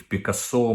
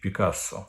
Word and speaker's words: Пікассо: туалети якщо там висить Пікассо Я кажу то Пікассо то Пікассо Мені більш до вподоби французька вимова з наголосом на останній склад але вам можливо до вподоби більш Комуністична вимова Пікассо І от вони Так